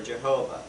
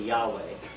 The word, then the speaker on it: Yahweh: used to translate Jehovah Yahweh that these little letters there that's Hebrew by the way is your first lesson of Hebrew which is Yahweh or Jehovah it's actually Yahweh and and if you